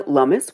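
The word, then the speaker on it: Lummis: get you up to speed US senators Cynthia lumus which rhymes with with hummus from Wyoming she's a republican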